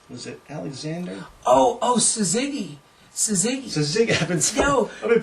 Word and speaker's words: Suzuki: Suzuki. I've been pronouncing it wrong all these years.